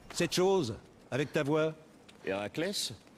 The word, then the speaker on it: Héraclès: Héraclès? Oui, c'est quoi, ça? Ben oui, c'est comme ça que ça se prononce.